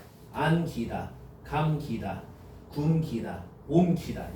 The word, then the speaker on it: 감기다: 이거 발음해봐. 감기다 막 이래. 일부러 막 그렇게 강조해. 감기다, 감기다 이런다니까. 테이프가 감기다, 테이프가 감기다, 그죠? 이렇게 안 한다고.